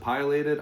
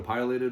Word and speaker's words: pileated: So, another thing I like to use, I think there's a couple pronunciations of pileated. I call it a pileated woodpecker or pileated woodpecker.